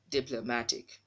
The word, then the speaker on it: diplomatic: syllable which is wrong the syllable has no stress mark so it shouldn't sound as flow it should be diplomatic this work tool has